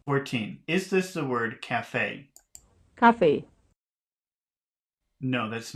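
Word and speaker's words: Café: the position of stress the stress and Cafe falls on the last syllable Cafe 21. that is the loudest part or the stressed part is the last syllable in the word Cafe Cafe Cafe 22.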